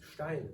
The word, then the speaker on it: Stein: but the word Stein means stone in German. It's Stein, not Stein, and nothing else.